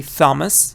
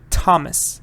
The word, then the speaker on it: Thomas: see th but you don't say Thomas you say Thomas exactly like what do you see th but you don't say Thailand you say Thailand Thailand so you have to